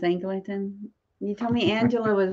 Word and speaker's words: Angela: this year oh we overthink it it's just Angela oh we do yeah we just don't want